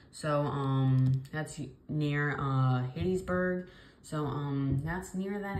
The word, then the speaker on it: Hattiesburg: as Laurel and um it doesn't include hayesburg but probably east of Hattiesburg it is currently um actually now Hattiesburg um weird thing yeah I'm sorry guys I mispronounced that but um like I